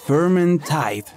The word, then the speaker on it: Vermintide: Y sí, se pronuncia Vermintide, ya que es neerlandés.